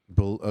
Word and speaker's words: Beloit: Bullitt College. I had loans. Is it spelled like a bullet, like a gun bullet, or is it probably spelled differently, right? Beloit.